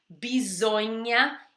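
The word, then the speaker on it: bisogna: Então você aprende rápido bisonha E ela é bem diferente era pronunciado esse s com som de z uso em a atenção aí ao GM e com som de NH bisonha seminar on Oi e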